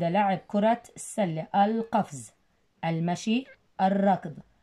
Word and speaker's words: الركض: ثانيا، الركض ال لكن لام شمسية تكتب ولا تلفظ.